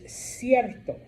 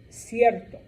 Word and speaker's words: cierto: If you have the letter C before an E or an I, it is pronounced what we call a soft C, or S.